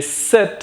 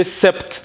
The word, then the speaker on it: sept: Now, as you can hear, the set, we don't say sept. No, even if the spelling looks like to be, the spelling is sept, but the pronunciation is set.